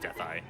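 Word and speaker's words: Dethl: The fifth phase is Landmola, and the sixth phase is we call him Deathel, but I think it's actually properly pronounced Death-Eye. So Death-Eye.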